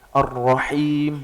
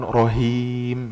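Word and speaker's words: الرحيم: Ar-Rahim bukan Rohim ya.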